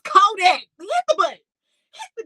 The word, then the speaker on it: Kodak: He said Kodiak. It's Kodak.